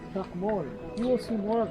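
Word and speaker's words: Chac Mool: Chakmol. Chak, that's what teachers used to write on the board. Mol is like the animal that lives underneath the ground. That's how you pronounce it, but it's spelled differently.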